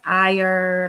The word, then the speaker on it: Iyer: It's pronounced Iyer, like Ireland.